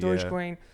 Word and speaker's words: Dogecoin: I don't know how you pronounce it. Dogecoin.